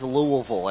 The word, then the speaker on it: Louisville: It's Louisville in our house and so I've said it as Louisville ever since.